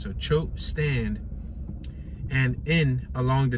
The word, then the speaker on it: Choate: it's C-H-O-A-T, like Choat, but I believe the A is silent, so Choate Stand, and in along